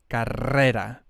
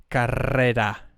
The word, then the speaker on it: carrera: You can see this word has a double R and then has a simple R, or a single R. So this one will be a hard or strong pronunciation R, and this one will be a soft one, carrera.